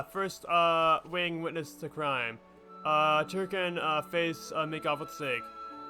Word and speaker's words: Tirkin: I have finally grown accustomed to saying Turkin instead of like Tirkin. Because that's the more common pronunciation is Turkin. So it's just really weird to see people pronounce it incorrectly in the game.